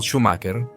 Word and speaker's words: Schumacher: Como sempre, começamos contando um pouco da biografia do piloto em questão, que nesse caso é Michael Schumacher, embora a pronúncia correta seja Michael Schumacher, um piloto nascido em Hermannheim, Alemanha, em 3